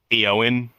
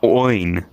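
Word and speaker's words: Éowyn: his name was said eowin see uh you get rid of you get rid of the E and it's oin no hello oh my God it's two syllables literally it's two syllables well it's something I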